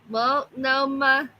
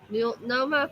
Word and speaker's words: Multnomah: Multnomah Falls. Multnomah Falls.